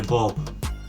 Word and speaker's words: bulb: those words that I realized we had Miss pronounced back in the day was Globe actually bulb the word is bulb the light bulb electricity